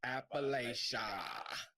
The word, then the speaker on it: Appalachia: a family that's latcha appalachia just relax if you say it wrong paul steve will throw an apple at it that's how you gotta remember it that's how you remember if you say appalachia i'll throw an appalachia and the reason people